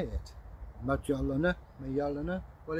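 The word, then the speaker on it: Mjölnir: Mjollnir, Mjollnir? Well, it's Mjollnir, the Y is silent.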